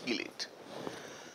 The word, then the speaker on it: chelate: The correct pronunciation is chelate.